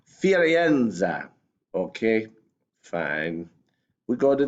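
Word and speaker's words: Firenze: called the frauds but in Italian it's firienza okay fine we go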